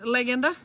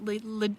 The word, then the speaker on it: Legenda: thing is heavy and this is leenda is that how you say it in the Lithuanian 2o yeah cuz we'd like to call that legenda Legend legenda in English legenda Okay and Tom Su